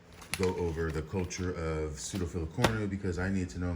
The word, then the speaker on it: pseudofilicornu: Now, here is what Fred Hillerman says about pseudofilicornu, pronounced pseudofilicornu, is a Latin word meaning resembling a thread-like horn.